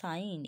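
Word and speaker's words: sign: এস এর জন্য জ এসছে ঠিক আছে রিজাইন সাইন এস আই জি এন সাইন ওকে বুঝাতে পারলাম এর যখন সাইলেন্ট থাকে দেখো honour H ও এন ও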